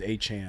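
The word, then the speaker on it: Achane: like h a Chan freaking his name is a Chan yeah I just learned how to pronounce his name yeah because well he's Adam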